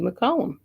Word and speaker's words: McCollum: my heart by sandy mccollum hopefully i'm saying your name right by the way you are you are saying it correctly that's the column like a column uh-huh okay good i